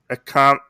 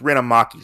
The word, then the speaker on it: Ren Amaki: We have Ren, Akami, I think is how you say it. Amaki. I think it's Ren Amaki, sorry.